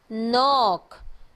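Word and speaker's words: knock: है कि एनओसी के नॉक नॉक इस मुल्क की आवाज नहीं आती के साइलेंट होता है 99 का मतलब होता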